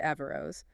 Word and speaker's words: Averroes: The Iben prefix can sound a bit like a or a in Spanish pronunciation. And from there, it's a short hop to Avarose.